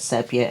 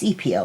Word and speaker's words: sepia: using the sepia um if I call it sepia every once in a while just ignore me because that's the what the way I used to pronounce it until I asked a friend of mine who's been an artist for a very long time teaches and things like that and she told me it's CPO like to see I'm making